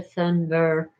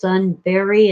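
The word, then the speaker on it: Thunberg: feel sorry for Greta Thunder I've heard it pronounced Sunbury and thunder apparently the G is either silent or a Y anyway she's a child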